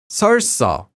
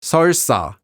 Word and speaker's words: 설사: Note that the adverb seolsa has the same pronunciation as the noun seolsa.